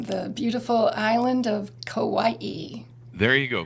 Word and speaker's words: Kauai: Hawaii I am the beauty beautiful island of Kauai there you go Kauai is that how I'm supposed to pronounce it yeah there you go there you